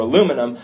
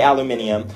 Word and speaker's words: aluminium: So some words like aluminium or aluminum, I would say aluminium, even though it's spelled aluminum Let's just say here.